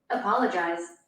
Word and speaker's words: apologize: Então, a ênfase no PO, apologize, é uma sílaba tônica, porém não é a sílaba tônica mais forte. Apologize. Então, o jazz seria a sílaba mais forte.